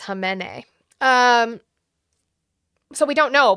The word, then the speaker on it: Khamenei: So, it's pronounced Khamenei.